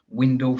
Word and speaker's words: Windle: Windle spelled like swindle without the S.